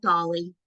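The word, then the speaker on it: DALL-E: is um it's called Dolly so the best way to describe how to say it is if you've ever seen the Pixar film Wall-E it's the same kind of pronunciation but this is a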